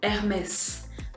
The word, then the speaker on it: Hermès: in French we would say Hermès. So here, don't forget that in French, the H is silent. You're never going to hear that H.